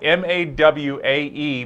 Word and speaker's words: Mawae: Well, first off the bat, I've got to ask you about this last name, Mawae. It's spelled M-A-W-A-E, but pronounced Mawae. What's the origin of that name? It's Hawaiian, actually.